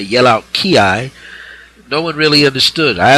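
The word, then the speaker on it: 気: the pure Mandarin and other ways, other languages, it's spelled qi. It means the same thing. Ki, Q, chi.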